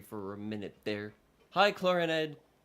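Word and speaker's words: Clorinde: Hi, Clorand. Clorand. I keep forgetting that's how it's pronounced.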